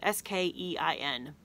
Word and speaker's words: skein: looks like this and it's spelled SK ein looks like skein pronounced cane but these are a